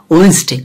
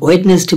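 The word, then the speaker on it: Wednesday: ওয়েনসডে আমরা ওয়েডনেসডে বলি, এটা যদি সে ওয়েডনেসডে শুনে তাহলে বিপদ।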